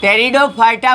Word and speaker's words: Pteridophyta: गया है अ कि टेरिडोफाइटा को टेडो फाइटर कहते हैं पीस में साइलेंट रहता है पटेल डिफाल्टर नहीं